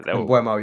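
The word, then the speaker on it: Mbeumo: Yeah, Mbuemo, yeah. Mbuemo, that's how you say it, yeah.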